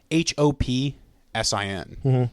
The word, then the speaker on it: Hopsin: Hopson by Hopson I think that's how you spell it or say it it's h o p s i n Hopsin um I think I mean like everyone